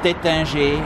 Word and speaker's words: Taittinger: lot of different cellars, starting with Taittinger, and I even pronounce it correctly for a change.